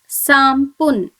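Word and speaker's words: 三分: The third example is Sampun.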